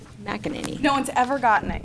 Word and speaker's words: McEnany: McEnany. McEnany.